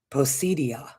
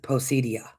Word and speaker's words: Poseidia: There's Atlantis and then there's the land of Poseidon that they refer to it as Poseidia. That's how you would actually pronounce it. Posedia.